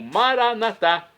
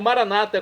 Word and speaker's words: Maranata: do aramaico Eu Clamo Maran natá como dizemos nós católicos ou Maranata como dizem nossos irmãos separados os evangélicos ou protestantes não importa a pronúncia o significado é o